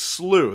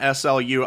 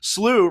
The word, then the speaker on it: SLU: correcting me on this it's slew they say everyone's saying slew not slu i'm an old man